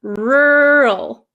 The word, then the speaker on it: rural: no they don't so the first one rural my mouth barely moves R it gets tight for the r r rur the second